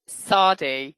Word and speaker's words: Saady: this in the beginning my name is sardi not it's always such a difficult one to pronounce s-double-a-d-y um so i i